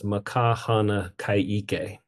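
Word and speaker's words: Ma ka hana ka ʻike: And the way it's pronounced is makahana kaike, and ike meaning knowledge.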